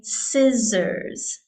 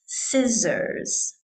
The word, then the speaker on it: scissors: I added this one onto the list because the pronunciation is quite challenging. So we say scissors, scissors.